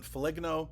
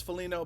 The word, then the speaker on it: Foligno: I also got corrected on Foligno, because I know it's Foligno, but that's a kind of an inside joke. Back in the day when he was actually coming into the league, I drafted him in a fantasy hockey league, and I was drinking during that time, during that draft, and I kept calling him Foligno, and I kept getting corrected that it was Foligno, and I kept saying